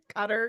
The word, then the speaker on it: Qatar: I would accept Qatar money. Is that how you say it? Cutter. Yeah. Yeah, Cutter.